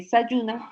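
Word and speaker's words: Zajuna: Recuerden que se escribe sajuna, se lee sayuna y su significado es semilla.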